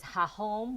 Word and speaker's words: hahom: So for example, your question was, is hahom with an H, H-A-H-O-M, or is it J-A-J-O-M? It's both.